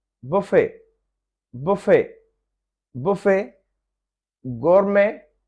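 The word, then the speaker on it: gourmet: गोरमे, गोमे, गोमे, तो यहाँ पे ये टी साइलेंट है।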